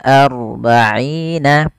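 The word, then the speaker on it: أَرْبَعِينَ: Kemudian pelafal arba'ina hanya tipis, rohnya tebal. Maka di sini ada bacaan namanya ro tafkhim. Ro yang kita baca dengan bacaan tebal. Tidak dibaca arba'ina tapi ar. Maka arba'ina, bukan arba'ina tapi arba'ina. Kemudian pelafal aina ada mad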